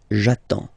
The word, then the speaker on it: j'attends: Okay, you get D and S. Well, basically you don't pronounce them. Okay, and then you get only the sound attends. Nasal here, en, j'attends.